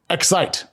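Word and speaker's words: Xyte: startup notes this morning excite which is spelled xyt it's a startup that helps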